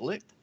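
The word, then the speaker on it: Licht: name the composer licked is it licked licked yeah yeah that's cool let's see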